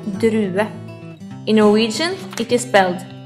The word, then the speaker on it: drue: a grape in Norwegian a grape is called drue in Norwegian it is sped d r u e try it drue This is the color red